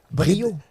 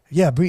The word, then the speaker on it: Briau: So the AU is a O. It's like a O in French.